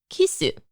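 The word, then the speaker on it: キス: But this word is rarely used, and in most contexts, kisu, the Japanese pronunciation of the English word kiss, is used, again, emphasizing the foreignness of the act itself.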